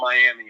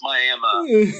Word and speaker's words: Miami: we passed the Oklahoma they hate it when you call it Miami it's Miami yeah that's like I am